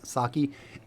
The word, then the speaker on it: Psaki: Is the P silent? Psaki. Anyways, she refuses to give credit for Operation Warp Speed to Trump, which is silly because that is all him.